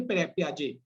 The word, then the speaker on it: Piaget: So it is called Piaget, pronounced as a Piaget.